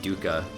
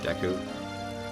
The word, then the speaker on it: Deku: the first time I always called it duka instead of Daegu or Deku which is just wrong but it was just